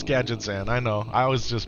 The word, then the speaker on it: Gadgetzan: Gadgan used to pronounce it Gadgzan back in the day, too. Gad Gadget Xan. Yeah, it's Gadgetzan.